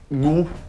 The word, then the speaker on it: gourou: Si, vous avez dit guru alors que c'est gourou. Non, je crois pas que j'ai dit... Puis de toute façon, à l'américaine, ça s'écrit G-U-R-U. Oui, mais ça se prononce gourou.